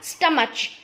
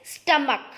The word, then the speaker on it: stomach: Okay, now stomach की spelling में last में CH आता है, बट CH जो है क का साउंड देता है. किसका साउंड देगा? क का. इट इज नॉट स्टमच, इट इज स्टमक.